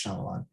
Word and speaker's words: Shyamalan: m night shyamalan um i'm not shyamalin or shyamalan one of those um sorry if i mispronounced that i think it's shyamalan um but he uh